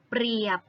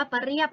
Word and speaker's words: เปรียบ: ป ระ กอ บอ เปรียบ ไม่ ได้ อ่าน ว่า ปะ เรียบ นะ คะ โน้ ท เสือ ตัว ที่ 5 คือ ตัว ตร.